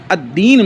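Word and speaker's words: الدين: یہاں پہ کیا ہے۔ لیکن الدین میں جو ہے لام کے بعد جو ہے حروف شمسیہ میں سے ایک حرف آ گیا ہے، اس لیے ہم لام کا تلفظ نہیں کر رہے ہیں، بلکہ ہم دال کو مشدد پڑھیں گے۔ اس کا خیال رکھیں آپ.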